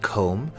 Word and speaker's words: comb: Staying with the subject of hair, at the sink you may also find a comb, which has a silent B, or a hairbrush.